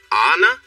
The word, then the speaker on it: Anna: wrote her name Anna she quickly added the pronunciation SL a na slash Anna Alex repeated that's nice